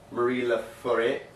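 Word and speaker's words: Marie Laforêt: French record French pop Marie LA foreign that's exactly how you pronounce it and uh this is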